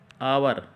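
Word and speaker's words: hour: इसमें, एच है, तो इसका उच्चारण एच से नहीं है, इसका उच्चारण किससे है, स्वर के आधार पर। आवर क्या है, आवर, इसको बोलेंगे हम, क्या बोलेंगे, आवर।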